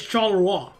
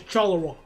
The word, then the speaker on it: Charleroi: The British pronunciation is Charleroi. It's Charleroi. Or closer to the French. The French and British one is Charleroi.